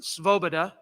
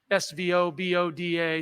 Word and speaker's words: Svoboda: There was a Depression-era diarist named Ernest Svoboda. That's hard to pronounce even when I don't have a mask on. S-V-O-B-O-D-A, Svoboda.